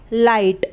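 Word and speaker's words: light: पे ए की मंत्र फिर ए फिर टी लाइट ल आई जी हा टी लाइट इस तरीके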